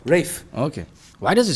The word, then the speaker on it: Ralph: discuss with the guy Rafe Rafe Rafe okay why does it spell it that way then no no it's spelled this way because Rafe is apparently the older pronunciation for Ralph it's the same uh